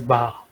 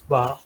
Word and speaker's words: Baja: these are especially like you pronounce it as ba instead of somebody try to pronounce it at Baja I I know but it's bar basically and for them uh